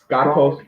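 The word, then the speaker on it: σκότος: Skatos.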